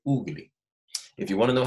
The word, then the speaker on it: ugali: Not ugly, say ugali.